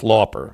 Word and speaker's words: Lauper: Otherwise, it's Lauper. I think that's how you're supposed to pronounce her name.